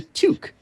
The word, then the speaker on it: toque: It's pronounced a toque.